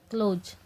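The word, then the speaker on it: close: क्लोज सी एल ओ एस ई। क्लोज यह है जो वो हमारी साइलेंट हो गई भाई ठीक है ए को नहीं बोला जाएगा यहां पे तो इसलिए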